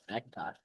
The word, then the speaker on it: McIntosh: Oliveira McIntosh McIntosh Excuse me. I always I always mess that up. That's that's going to be a consistent thing cuz it's not spelled with an A.